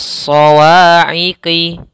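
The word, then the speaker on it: الصَّوَاعِقِ: Shad hurufnya tebal. Shad harus tebal isti'la sebagaimana tadi huruf sebelumnya. Sawa'iqi. Shad ini tasydid. Nah, sebelumnya ada alif lam syamsiyah sama alif lam, di sini alif lam syamsiyah. Langsung tidak dibaca tapi langsung ke huruf shad.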